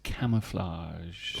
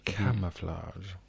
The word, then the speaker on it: camouflage: Where the Schwa hides, it's camouflage. Ooh, I love that word. Camouflage. Yes, say that. Camouflage. Camouflage, but with very different pronunciation. And of course, our friend the Schwa in the middle there.